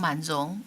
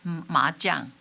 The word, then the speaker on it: Man-Jung: I like to be called Man-Jung, but usually Westerners pronounce me as Ma-Jung. So It's a gamble.